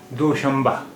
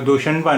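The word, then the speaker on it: دوشنبہ: এখানে নুন অক্ষরের উচ্চারণ হচ্ছে মিম, দোশম্বা। এটা দোশনবা নয়, এটা এর উচ্চারণ হবে দোশম্বা, দোশম্বা।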